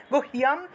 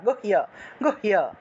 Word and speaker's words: गुह्यं: नभौ च कामिनी रक्षेत् गुह्यं गुह्येश्वरी तथा गुह्य এরকম না গুহ্য এইভাবে गुह्यं गुह्येश्वरी तथा मेढ्रं